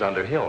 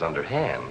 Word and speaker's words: Underhill: me such a fright Mrs Underhill not Mrs underhand Elizabeth you mispronounce it your